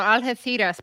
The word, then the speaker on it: Algeciras: Now, Algeciras, by the way, that's how you say it in Spain with the theta.